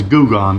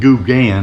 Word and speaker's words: Googan: how they pronounce it I thought it was Gan but it's actually Goan obviously g o o